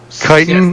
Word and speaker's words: chitin: Chitin? Yes, That's the chitin. No, yeah, it's The chitin. proper pronunciation chitin.